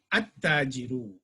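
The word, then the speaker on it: التاجر: We don't pronounce the lam. We will join the alif to the letter. For example, at-tajiru.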